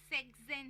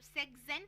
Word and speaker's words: sechzehn: सकते हैं कि अभी सेक्सज़ेन है तो नॉर्मली हम सेक्स को SECHS प्रोनाउंस करते हैं, बट जब सेक्सज़ेन प्रोनाउंस करते हैं तो वो SECHZEHN, तो हम वहाँ पे S हटा रहे हैं।